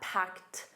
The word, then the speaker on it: packed: And notice that packed a soft t at the end.